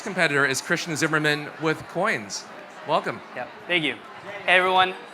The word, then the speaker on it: Qoins: is Christian Zimmerman with coins welcome yeah thank you everyone my name is Christian Zimmerman and I'm the co-founder of coins spelled with a Q so in 2015 I